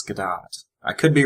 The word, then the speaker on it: Gadot: I've heard it pronounced Godot, but I think it's Gadot.